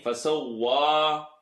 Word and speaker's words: فسوى: Don't say va. If this is touching the bottom teeth, you're saying V. There's no V in the Arabic language. فسوى. الذي خلق فسوى. Say wet. If you're saying fasawwa, wa, you hear the wa? Keep the a sound open, clear, wet. Fasawwa. Hold the shadda.